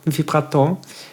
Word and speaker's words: vibrato: And the French term is similar, just the accent falls on a different spot, so it's vibrato.